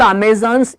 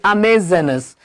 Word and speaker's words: Amazonas: Okay, it's not Amazons, it is Amazonas.